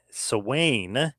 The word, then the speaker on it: Samhain: You've got to remind everybody, NWA Samhain, if you will, the Gaelic pronunciation. It's spelled Samhain, but that's the Gaelic pronunciation of it.